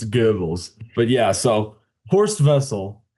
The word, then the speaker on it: Goebbels: I took a Goebbels, little German in college, so I understand how to pronounce it. It's Goebbels.